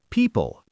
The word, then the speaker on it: people: People, P-E-O-P-L-E. People, that O does nothing.